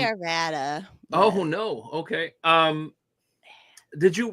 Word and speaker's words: Arvada: Did I pronounce that right? Arvada. Yeah. I say Arvada.